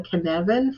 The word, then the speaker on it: Cynefin: he came up with a framework called the kinevin framework and i'm going to put a slide up on how you spell that um it's a welsh word and it's